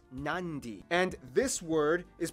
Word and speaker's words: Nadi: make the um sound therefore the town of Nadi is actually pronounced nandi and this word is